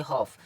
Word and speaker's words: half: और इसको HALF, इसको पढ़ेंगे हॉफ।